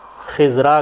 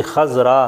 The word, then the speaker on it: خضراء: گا، خضراء، اور خضرن، تو جس کو ہم عام طور پر خضراء کہتے ہیں نا اردو میں، تو گرامر پڑھنے کا یہ بھی ایک فائدہ ہے کہ آپ کو ان الفاظ کا تلفظ صحیح آ جائے گا اردو میں بھی۔ تو اردو میں ہم کہتے ہیں نا گنبد خضرا، تو یہ بیسیکلی خضراء ہے، ٹھیک ہے، مؤنث کے